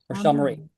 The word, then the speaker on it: Rochelle: Is it Rochelle? I want to make sure I pronounce it correctly. Rochelle Marie. Rochelle Marie.